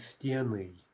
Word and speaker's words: стены: For feminines, the stress only jumps back onto the stem in the plural form, sort of only in one direction. For example, стена becomes стены, right? Stress jumps back.